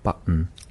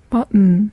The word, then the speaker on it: button: 버튼, 버튼 이렇게 하는데 T와 N 발음이 연속해서 오면 그냥 콧소리처럼 끝내버려요. 그래서 button이 아니고 button. button.